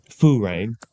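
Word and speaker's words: φρουρέω: it's pronounced f rain Foo rain so think of like I grew up in Seattle a lot of rain I grew up listening to Foo Fighters so Foo rain okay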